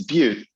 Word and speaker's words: Butte: it's beaut like uh yeah like in montana all right my dad